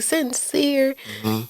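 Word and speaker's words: Syncre: That cuz I was like sincere. Like that's that's different. But then it's spelled different cuz usually it's s i n c r e.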